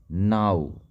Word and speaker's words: now: NOW नो नहीं नाउ इसको पढ़ेंगे नाउ।